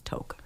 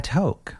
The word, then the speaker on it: toque: correct pronunciation is toque. A toque.